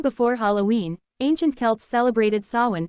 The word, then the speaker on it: Samhain: Long before Halloween, ancient Celts celebrated Samhain, pronounced Samhain, marking the end of harvest and the arrival of winter, a season associated with death.